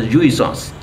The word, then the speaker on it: jouissance: Pleasure has a French word called jouissance. If you can pronounce the word renaissance, you can pronounce this also jouissance.